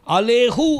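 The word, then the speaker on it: עליהו: सोलंब जब his leaf ऐसा कहेंगे अलेहु अपन सो वर अलेहु कहना है सो इन द हिज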